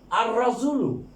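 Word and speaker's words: الرجل: আর নাজমু তারপরে রজুলুন, আর রজুলু এই যে লামের উচ্চারণ হবে না।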